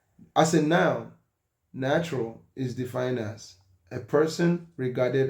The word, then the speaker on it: naturalis: The origin of the word natural is Latin. It means birth, nature, quality. In Latin, it is pronounced naturalis.